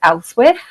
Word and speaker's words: Ealhswith: We know her name was Elswith. It's a difficult one to pronounce. It's pronounced so many different ways because it's EALHSWITH, a really difficult one.